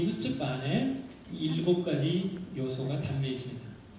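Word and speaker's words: chutzpah: 앞에 C를 발음하지 마세요. 그럼 후츠파라고 발음이 되죠?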